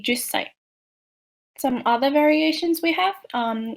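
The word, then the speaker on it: 十歳: And then counting age, you put sai at the end, but also make sure that you see the small two when you pronounce, like isai, and 10 would be jusai.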